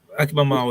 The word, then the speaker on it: Akiba Mao: We have Akiba Mayo. Is that how you say it? Yep, Akiba Mao is fine.